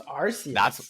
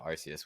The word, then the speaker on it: Arceus: No, I've always pronounced it Arceus. When I've heard someone say Arceus for the first time, I just feel like that's been the colloquial way of saying it, is Arceus. Really, I've heard friends pronounce it Arceus, and I was very thrown off at first. But I guess both are technically correct.